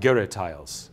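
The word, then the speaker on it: girih: of um what are sometimes called Giles I think I've pronounced that somewhat in the right neighborhood right g r i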